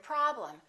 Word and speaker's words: problem: vowel is reduced madam look at the e m of the word problem the first syllable is stressed and the e m will sound exactly the same as the am of the word madam listen madam problem this